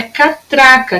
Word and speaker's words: catraca: É catraca, que ela não é uma palavra proparoxítona, e sim paroxítona, tá?